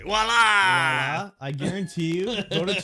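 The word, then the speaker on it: voilà: no no voila yeah whenever I see Walla I'm like oh my God it's voila voila I've never seen anyone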